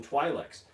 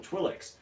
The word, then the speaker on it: Twi'lek: things coming from their head they called him twilight's and they were Twi'lek spur advert and that's how I always knew them was his twilight's and then all of a sudden everybody started calling him Twi'leks and I thought well maybe that's just this